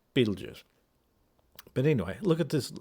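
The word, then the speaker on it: Betelgeuse: Um, and by the way, he keeps on calling this star Betel guys. Betel guys or something like that. I mean, what the Beetle guys. It's Beetlejuice. Pronounce it right. Beetlejuice.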